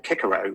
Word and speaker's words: Cicero: Cicero would not have Cicero would have pronounced his name kikaro because all C's and Latin were hard and in fact if